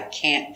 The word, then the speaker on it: can't: It's stressed. So the negative is the important word. We pronounce it with the a sound. I can't go. I can't do it. And the t. The t is a stop t. So you don't hear t.